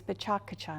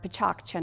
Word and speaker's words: PechaKucha: JILL: PK Night is Pecha Kucha Night. Or, Pechakcha Night and it's an event that